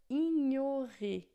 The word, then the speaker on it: ignorer: Em francês a gente não tem NH, a gente tem o GN que vai fazer esse som de nh, tá?